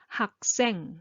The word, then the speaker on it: 학생: This one again because final consonant followed by another consonant so naturally you make tense sound. So 학생 .